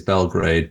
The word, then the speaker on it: Belgrade: I mean, I guess the anglicized way is Belgrade, but in Serbian it's Beograd.